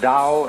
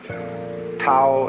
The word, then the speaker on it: Tao: paul the dao tao pronounced dao in the mandarin dialect tao in the shanghai dialect toll in the cantonese